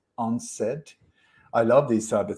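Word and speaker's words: UNCED: was called u-n-c-e-d when when you pronounce it it's unsaid i love these type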